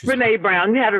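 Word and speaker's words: Brené Brown: Is it Bren Brown or Brene Brown? How do you say that, Tracy? Do you know? It's Brene Brown.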